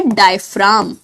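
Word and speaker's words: diaphragm: को बोला जाता है डायफ्राम। डायफ्राम, जी साइलेंट है यहां पे।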